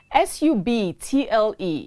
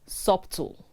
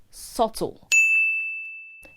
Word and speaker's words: subtle: love our salad the vegetable l-a-t-t-u-c-e is not pronounced letus it is lettuce s-u-b-t-l-e is not subtle it is subtle the bee is silent subtle means of something